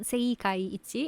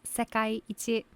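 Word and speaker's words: 世界一: It's not seikai ichi, it's sekai ichi.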